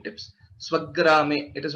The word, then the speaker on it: स्वग्रामे: Swagrame, it is not Swagrame, it is Swagrame. That Dvitva is always expected wherever there is a Sanyukta Akshara.